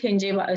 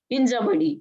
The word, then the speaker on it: Hinjawadi: We call it Hinjewadi. Some people call it Hinjewadi. I'm Maharashtrian, so I pronounce it as Hinjawadi.